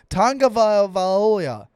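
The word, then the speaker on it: Tagovailoa: even say it and she's saying it right Tonga Ville Valo Leah all right here's how his name is spelt tu a is his first name -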